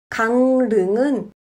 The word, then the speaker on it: 강릉: 강릉은 강릉으로 발음합니다.